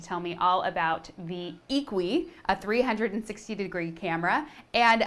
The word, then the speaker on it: IQUI: san francisco to tell you all about the equi 360 degree camera that's iq ui but pronounced equi it's by the company vectnos and vectors actually